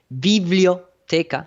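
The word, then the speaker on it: biblioteca: you know in the spanish library uh is pronounced viblio teca like the vivlia vivlio because everybody knows that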